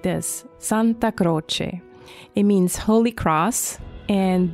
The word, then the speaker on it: Santa Croce: Santa, like Santa Claus, and Croce, like Jim Croce. So, of course, that's how you say it in English. In Italian, it sounds like this, Santa Croce.